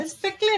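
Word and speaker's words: Péclet: न्यू टम one more dimension less टम called पेले number पेले number spelling इ प सी L eighty T silent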